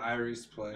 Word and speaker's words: Iris Place: Paranormal, Iris Place. Am I pronouncing that right? Yeah. Yeah, Iris Place.